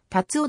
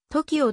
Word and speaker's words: 辰生: の公式サイトより tatsuo ではなく tokio という読み方が正しい関西学院大学の